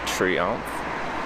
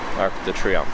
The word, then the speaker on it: Triomphe: It's pronounced Triomphe. Okay. Arc de Triomphe.